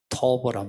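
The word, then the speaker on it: טוב: 그러니까 하나님이 보시기에 좋다라는 그 단어에 이거는 좋다는 말은 하도 유명해서 여러분이 발음을 들으면 좋아요. 토브란 말이에요.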